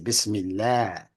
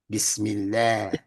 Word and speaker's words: Bismillah: that Kesra, they say, means that you're supposed to pronounce the next word if it's Allah with an elongation, with a light A. Bismillah, Bismillah. They say Bismillah instead of Bismillah. But Imam Muhammad said, no, it stays Bismillah because one A is light.